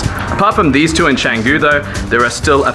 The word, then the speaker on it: Canggu: in changu let me explain if you type changu into Google Maps which by the way I'm trying to use the correct pronunciation this time you can see a boundary